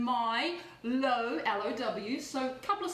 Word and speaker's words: Milo: to our healthy milo i spell it m y as in my low low so a couple